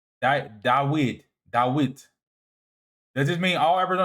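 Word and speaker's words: דוד: Dawita is literally the Hebrew pronunciation of David. Dawid.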